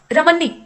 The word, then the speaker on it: रमैनी: इसे कहा जाता है प्रोनाउंस एशन यहां पे रमैनी होगा यह जो लिखा है यह रमानी लिखा है तो रमानी नहीं होता रमनी होता है कुल मिलाकर ये कहा